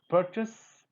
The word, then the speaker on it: purchase: It's purchase and plural purchases. Purchases, purchaser, purchasing. So nowhere z is coming.